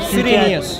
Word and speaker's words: Cyrenius: The census of Quirinius was a census of Cyrenius. That's a Q. Quirinius, Cyrenius. Pronounce as you please.